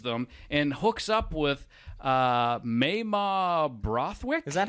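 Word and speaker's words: Mamah: He leaves them and hooks up with Mayma Brothwick. Is that how you say it? I was thinking Mama. I think it's Mayma.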